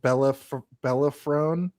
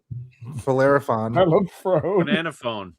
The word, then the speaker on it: Bellerophon: The plan was basically to peddle the Bellafrone or whatever, the antidote to the chimera. Bellerophon. Banana phone. Banana phone. Banana phone. I wrote it phonetically as Bellerophon.